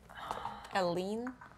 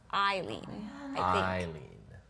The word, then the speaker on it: Eileen: Galvin from next door how do you say her name again Helene it's Eileen yeah that makes sense Come On Eileen before look at the